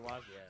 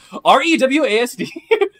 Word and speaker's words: reWASD: Oh, Rewaz, yeah. Yeah, Rewaz, yeah, you can kind of... I don't know why I pronounced it like that. REWASD.